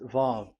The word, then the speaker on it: Vav: So the word, the shape Vav is really pronounced V, like Vogue. That is it, pronunciation. So here in this side, it's pronunciation. This is pronunciation. So according to the old Hebrew word today, those who the owner of the words, I mean, so it's a V. So don't change it into W, and you will say